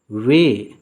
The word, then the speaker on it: weigh: आज का अगला बहुत ही महत्वपूर्ण शब्द है वे, WEIGH। वे का अर्थ होता है तौलना। याद रखेंगे, इसमें GH यह सब साइलेंट है, तो इसको वे पढ़ते हैं।